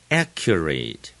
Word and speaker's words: accurate: history 也可以读作 history，也可以读作 history。medical。第十，accurate，前面就是重音 a，很重，accurate，准确的，accurate。第十一，diagnosis， no 的地方最重，前面的 die 是次重音，i 的长音 die， diagnosis， gnosis，动词是 diagnose， diagnose，那就是重音就在最前面。十二。Symptoms 重音在最前面，都读得很短。Symptoms。